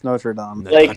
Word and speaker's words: Notre: Notre Dame came out or notra I don't know how they pronounce it so I'm saying Notre Dame notam it's notra because villains because people were